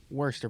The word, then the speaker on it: Worcester: started coaching in 2009 at I believe it's pronounced Worchester Polly what's the Worster poly yep could you kind of give me